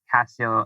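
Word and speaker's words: Cascio: tempe dot gov and my name's pronounced like casio electronics or the casio keyboard or casio watch but there's a hidden c in there so uh yeah that's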